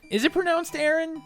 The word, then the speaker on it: Aron: they ever do a live-action pokey Wow it's pronounced Aaron Wow I always got it right cool thank